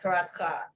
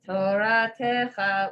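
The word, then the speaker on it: תורתך: That's actually how it's pronounced. Yeah, Toratcha. Okay. But sometimes they sing it as Toratecha, which isn't correct. Okay. Yeah. Musical license. Yeah. It's like a way to sing it and hit but yeah, so it's actually Toratcha, Okay.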